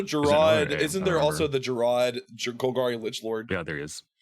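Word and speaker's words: Gerrard: Oh, Gerard. It's pronounced Gerard. Is it Gerard? I thought I thought it was Jared.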